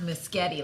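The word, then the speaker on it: Muschietti: very impressed side note in my mind it's pronounced Miss Getty like spaghetti oh okay understand this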